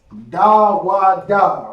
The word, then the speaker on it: Dawada: Dawada, right? That's how it's pronounced.